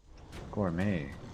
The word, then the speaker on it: gourmet: And it's like, oh, that's a French word.